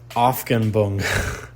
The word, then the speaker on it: Aufhebung: And this is expressed, um, in the Hegelian term, pronounce, uh, excuse my pronunciation here, Aufhebung.